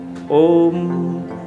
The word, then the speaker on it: ओम: ओम भी एकाक्षरी है, आप उसको ओंग नहीं कहते हैं, ओम कहते हैं।